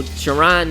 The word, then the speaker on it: Jaron: So Jaron means cry of rejoicing, and the Hebrew is the Hebrew variant, and it's spelled Y-A-R-O-N, and it's Jaron.